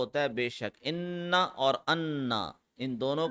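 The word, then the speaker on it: أنا: बेशक इनना और अन्ना इन दोनों का मतलब होता है वेरीली बेशक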